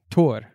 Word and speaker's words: Thor: hard time with Thor so they say Tor and the anglophone countries they recognize Thor from The Avengers so they're happy with that but yeah I mean if I was pronouncing it in Danish I would say tour right something like that yeah